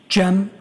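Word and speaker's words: Cem: Jim.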